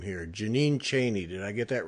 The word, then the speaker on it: Cheney: Jeannine Cheney. Did I get that right? Almost. It's Cheney. Cheney.